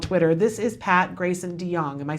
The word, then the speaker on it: DeJong: And for those of you who don't know, because I haven't said yet, because I'm all at Twitter, this is Pat Grayson DeJong.